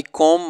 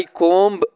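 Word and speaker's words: comb: करता हूं तो यहां पर कहेंगे कि आई कोम माय हेयर आई कोम यह गलत हो गया यहां पर बी साइलेंट है तो हम कहेंगे कि आई कोम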